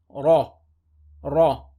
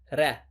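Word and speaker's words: رَ: with a fat hat on top so we pronounce it heavy so we say raw raw common mistake is to say today red that is wrong the correct pronunciation remember is to see raw raw raw first line sir the raw say bear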